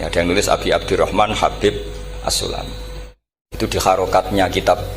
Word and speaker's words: Habib: yang nulis Abi Abdurrahman Habib asulami itu di harakatnya kitab itu ada yang nulis khubi Yang benar Oh gigih yang benar itu bacanya habib habib itu asulami itu ikut